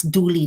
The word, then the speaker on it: duly: this duly noted again the pronunciation of Julie is duly not do like uh comes from the word do with this the right